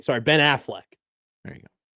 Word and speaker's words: Affleck: I hate how Matt says Affleck. It's not the insurance company. Sorry, Ben Affleck.